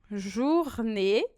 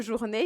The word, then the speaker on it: journée: Em francês, sempre que você tiver a letra E com um acento agudo, você vai pronunciar E de errado.